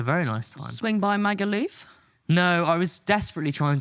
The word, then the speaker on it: Magaluf: Have you been to Magaluf? Have you been to... am I saying it wrong? No, it's Magaluf.